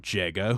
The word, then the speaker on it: Jega: it fun fact about jega whose name rhymes with sega this fight is eerily